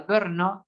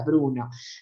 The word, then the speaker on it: Brno: B larga RNO, pronunciada Brno, que erróneamente se la conoce como la Bruno.